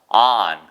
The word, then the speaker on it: on: 뭐냐면입니다 언 O이에요 여러분 이게 발음이 온이 아니고요 일단 발음부터 고쳐 보세요 미신에서 on on 우리 말에 밖이 있고 안이 있다 할 때 그 안처럼 발음하시면 돼요 on on don't take